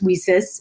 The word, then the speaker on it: WiCyS: acronym w-i-c-y-s and as we sis uh which is like pronounced like we sisters and so we're a